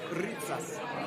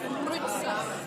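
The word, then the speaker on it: rytsas: Ritzas. Say it again. Ritzas. Rutsas. Yeah, that's pretty good. Rutsas. No. U. Like in French, like a French U. Rutsas. Ritzas.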